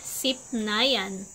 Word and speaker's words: sipnayan: sa pangalawang salita sipnayan ang tamang pagbigkas ng sipnayan ay sipnayan ang sipnayan ay mas